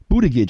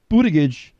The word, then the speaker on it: Buttigieg: Buttigieg, I think, is how he pronounces his name.